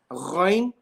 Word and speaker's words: Ghain: Okay, and I mentioned yesterday, Ghain from the halq, not from the lisan, not from the tongue.